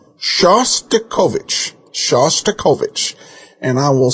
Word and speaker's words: Shostakovich: nice man called and told you how to pronounce it correctly, you still kept saying wrong. It's not Shostakovich, it's Shostakovich. Please do the man the honor of saying his name right. Shostakovich.